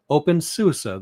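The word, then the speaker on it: openSUSE: Open susa. See, even I say it wrong sometimes. Open susa, that's the right way to say it.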